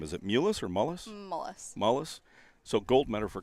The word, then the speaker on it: Mullis: Mullis.